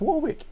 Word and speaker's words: Warwick: so something like well don't say it's work it's warwick so that's okay it's warwick farm um corey o'donney who's